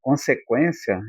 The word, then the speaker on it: consequência: Porque quando eu falo eh, por exemplo, eh, consequência, eu pronuncieio o U, porque unequência ainda tem o e aí, né?